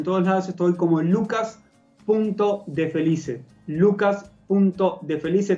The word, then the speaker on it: Lucas.defelice: Lucas.defelice, tal como se escribe, como se dice, D-E-F-E-L-I-C-E.